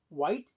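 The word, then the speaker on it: Whyte: is gonna get interesting 484 white and it's spelled w-h-y-t-e white classification wheel arrangement which stands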